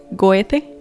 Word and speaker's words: Goethe: Le puso el nombre de otro teósofo que era Goethe, que se pronuncia bien difícil su nombre, pero es Goethe, ¿verdad?